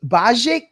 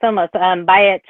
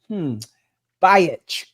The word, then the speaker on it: Bajic: So Bajic, did I pronounce that right? Bajic? Oh, almost. Bajic. Oh, so it's kind of all right. Bajic.